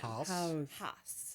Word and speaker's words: Haus: First of all, I want to ask Jennifer, it's not house, is it? Well, that's what I say, but other people say different like I think in Germany, like if there's a proper pronunciation, house. Oh, golf house. But we say golf house.